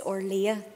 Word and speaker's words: Orlaithe: Gormagat, alas, Cancolia, it's Orlea, the pronunciation, thank you.